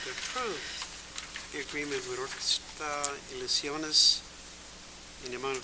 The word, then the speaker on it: Orquesta Ilusiones: Okay, next is, how do you pronounce Orquesta? Orquesta. Ilusiones? Ilusiones, yes.